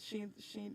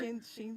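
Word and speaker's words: Sheindlin: But Judge Judy, I couldn't even pronounce her last name. You just did. Judith Sheen. No, it's Oh, like her actual Sheenlin.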